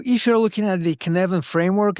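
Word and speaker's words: Cynefin: So if you're looking at the canvan framework it's pronounced as as if you're saying Kevin and you sneeze in the middle.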